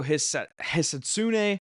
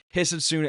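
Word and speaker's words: Hisatsune: Rio Hetssune. Saying the name wrong. Hitsune. He's He's short off the tea as well.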